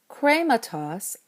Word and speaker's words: χρήματος: Krematos, of the thing, has 3 syllables in this form, and the last one is short. So the accent can stay on the eta, but it has to be an acute, since you can't have a circumflex back that far.